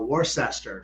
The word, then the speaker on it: Worcester: That's in Worcester. So in Boston area, they call it Worcester. Down here, we say Worcester.